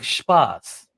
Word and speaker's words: Spaß: So have fun in German means mach Spaß.